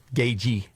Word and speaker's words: Gaethje: So, Joe Rogan is doing an interview with UFC fighter Justin Gaethje. Gaethje. That's how you pronounce it. The th is silent.